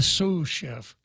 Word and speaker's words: sous chef: And you'll be happy to know that the chief cook out there, not the sous chef, did I pronounce that right?